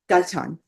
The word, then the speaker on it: Gaitan: Is it Gaitan or Gaitan? Thank you. Gaitan. I'm you saying it right.